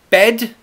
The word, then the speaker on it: bed: bad please very easy bed is where I sleep e bed mouth is wide e bed bad the